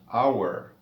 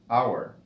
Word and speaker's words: hour: Y si escucha la pronunciación de la palabra en inglés, inicia con el sonido de la vocal O, hour, hour. Por tanto, no suena la H, así que decimos una hora, an hour.